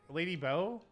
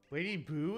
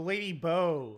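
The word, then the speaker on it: Lady Bow: mad he's big match lady boo it's not spelled boo if it was Lady boo they'd spell it like Boo what is your own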